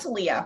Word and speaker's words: Thalia: Yes, and it's pronounced Talia, but all good.